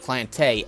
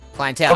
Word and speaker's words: clientele: And you see a variety of clientele as the first as Corvar's battlefield. Clientele. A variety of what? Variety Clientele. clientele. But he pronounced it Cliente for some reason. Clientele.